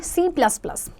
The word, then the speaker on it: C#: C hashtag. C hashtag is pronounced as C#.